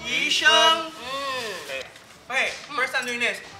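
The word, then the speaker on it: 鱼生: Pronounce it properly, it's yusheng. Yusheng.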